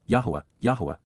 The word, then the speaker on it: Yahowah: at that time AZ simultaneously at that point Yahweh yah the proper pronunciation of the name of eloah God as